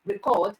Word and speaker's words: record: on a particular syllable if stress is placed on the firstable you say it is a noun if it is placed on the second syllable you say it is a verb all right so when